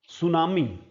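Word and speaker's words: tsunami: को कहते हैं टूम सुनामी सुनामी शब्द जो है इसको हम आमतौर पर सुनामी बोलते हैं। है ना? इसमें कहीं ना कहीं ट भी होता है लेकिन इसको बोला जाएगा सुनामी।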